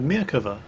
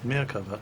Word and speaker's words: Merkava: The Merkava, and I had to look up how to pronounce this because I always called it the Merkava because, you know, I'm English, but no, it's Merkava apparently. Hebrew for chariot, named after the charioteers that King Solomon used to take into battle.